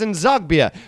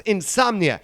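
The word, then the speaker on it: N'Zogbia: wrong all the time he called Charles and zagbia Charles insomnia well then Charles moved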